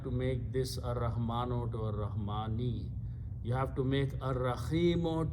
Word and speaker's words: Ar-Rahmani: After that is Ar-Rahmano, but we pronounce Ar-Rahmani.